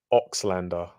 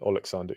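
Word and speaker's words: Oleksandr: is just it's legendary oxlander oxlander uzik instead of alex alexander usyk g-man joe hanks beats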